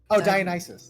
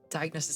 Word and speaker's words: Dionysus: Dionysus.